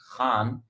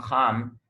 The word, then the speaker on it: Khan: So if you say my name is Khan, number one thing, you mispronounce Khan, because in English we do not have kh, we have k.